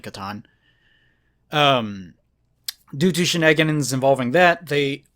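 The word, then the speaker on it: C'tan: What's the other way people pronounce it? Catan or Satan? Yeah, I've heard some people pronounce it Satan, which sounds kind of dumb, but whatever. I'll probably just end up saying Catan.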